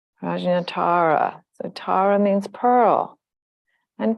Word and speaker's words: Prajnatara: projectara pearl of wisdom Tara with a long a rajinatara so Tara means Pearl